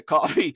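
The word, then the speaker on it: Ko-fi: And if you would like to encourage me, you can pop down to Coffee, spelled K-O-F-I. That's Coffee, spelled K-O-F-I, or Patreon, which is spelled like Patreon.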